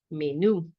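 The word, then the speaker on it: menú: menu in Spanish a menu right menu with an accent on the U to put the stress on you right menu all right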